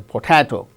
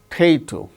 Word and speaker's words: potato: Potato, potato, not a potato, potato. The second syllable gains stress.